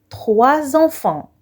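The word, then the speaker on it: trois enfants: On prononce 3 enfants. En liaison, S se prononce Z.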